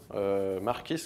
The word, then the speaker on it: Marquis: un Mustang, qu'il va appeler Marquis, Marquis, comme il le prononce comme ça en VO, qui du coup va créer une sorte d'amitié, il va se lier d'amitié avec ce cheval.